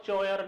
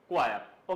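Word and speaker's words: choir: क्या बोलते हैं इसको क्वायर क्या बोलते हैं? क्वायर नॉट चयर नॉट क्वायर। ओके समझ में आ रहा है? ध्यान रखें क्या है करेक्ट प्रोनसिएशन? क्वायर। ओके?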